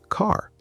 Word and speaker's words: car: For example, the word car. In British English, say it with me. Car. The R is very soft, almost quiet.